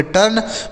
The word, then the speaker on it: turn: अगला शब्द है TURN, तो टी से हो जाता है दोस्तों ट, यू का उच्चारण अ, आर से र और एन से न, इसे पढ़ेंगे टर्न।